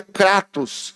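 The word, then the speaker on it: κράτος: Essa palavra apeguemo-nos, esse termo, ele é do grego e no grego ele se pronuncia cratos, que é força, vigor, uma ação poderosa.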